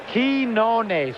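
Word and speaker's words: Quiñones: I mean, you got Quinones. Quinones. Julio, how do you pronounce it? Quinones. Okay. Quinones.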